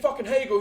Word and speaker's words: Hagel: Jamie Hagel whose name rhymes with Bagel uh and then we'll